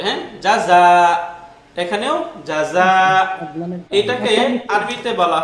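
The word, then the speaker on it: جَزَى: এরকমও থাকতে পারে, হ্যাঁ যদি ডটলেস ইয়ার পূর্বে খাড়া ফাথা বা নরমাল ফাথা থাকে, তখন এই ইয়া উচ্চারিত হয় না, বরং এটা মাদের সাথে উচ্চারণ হয়ে যাবে, হ্যাঁ জাযা।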